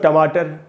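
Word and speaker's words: tomato: है भी एक वर्ड है टमेटो, ये एक उच्चारण है। दूसरा उच्चारण है इसका टमाटो। दोनों ही उच्चारण सही है, आप दोनों में से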